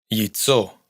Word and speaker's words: яйцо: Яйцо, huevo. Ядовитый, venenoso. Es como una I breve precedida de una clarísima semiconsonante Y.